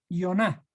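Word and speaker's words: יונה: Jonás en hebreo se escribe Yoná.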